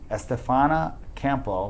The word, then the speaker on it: Estefania Campo: If you're a female looking to get in, sales advice and really just train your sales team, then this lady, Estefania Campo, right?